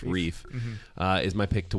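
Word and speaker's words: Ryf: so uh Daniela re no Daniela Reef pronounced Reef uh is my pick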